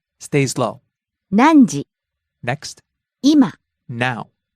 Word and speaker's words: 今: 今 Now. 今今 Starts high, ends low.